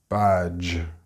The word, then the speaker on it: badge: Badge and ridge may give you batch and rich if you're pronouncing the ch sound instead of the j sound.